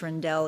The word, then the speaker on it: Rendell: former governor ed rendell he told me it's not randall it's rindell it rhymes with bell so thank you governor